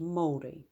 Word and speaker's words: Māori: In New Zealand, this would be pronounced Māori.